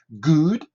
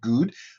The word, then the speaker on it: good: Les deux O, la plupart du temps, se prononcent quasiment dans 99% comme un OU, d'accord? Good, d'accord? Good.